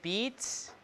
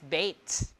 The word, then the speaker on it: beat: Now, we pronounce this word beat, E, right? But we spelled it with E-A. Why don't we pronounce it as bait, bait, like the way it's spelled?